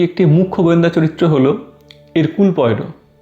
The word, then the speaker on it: Hercule: হারকিউলিস বা হেরাক্কলিসের ফরাসি উচ্চারণ ছিল এরকুয়েল বা এরকুল। সেখান থেকেই নামকরণ হয় এই চরিত্রটির এরকুল।